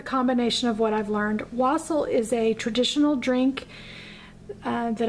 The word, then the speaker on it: wassail: wikipedia information on wassel some people call it wassel i'm from texas and so we all say wassel around here so that's how i'm going to pronounce it so wassel has a